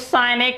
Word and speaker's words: sin: Scene बोलते हैं बहुत लोग इसको, ए साइन सीन। सीन आपका सी का थर्ड फॉर्म है, सी सा सीन, सी सा सीन।